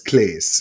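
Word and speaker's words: Claes: great central performance by Shaez Bong. By who? Isn't it? What did you just say? You say it, I'm not repeating. No, I said his name rhymes with Shays.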